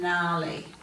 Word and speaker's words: gnarly: And then we're going to change colours and we'll go to the silent G in these ones. So we've got sign, design, assign, nat, gnome and gnarly.